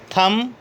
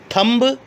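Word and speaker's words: thumb: Lamb, डम, थम, टूम। कभी भी ऐसे मत बोलिएगा लैम्ब, डम्ब, थम्ब, टोम्ब, ऐसे नहीं होता।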